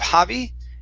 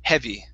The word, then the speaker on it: heavy: and last one here is the word heavy okay heavy thud instead of javi heavy heavy thought good all right nice